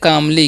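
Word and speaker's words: calmly: अविश्वसनीय ठीक है अब सी ए एल एम एल वाई है तो इसे हम पढ़ते हैं कामली क्या पढ़ते हैं कामली पढ़ते हैं यहां पर एल साइलेंट होता है ठीक है तो कामली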